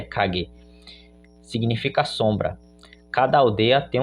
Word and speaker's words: Kage: Alguns falam Kage, mas a pronúncia é Kage.